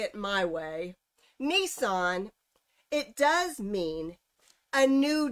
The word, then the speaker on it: Nisan: And tonight is the first session of, how do you pronounce it? NISAN. That.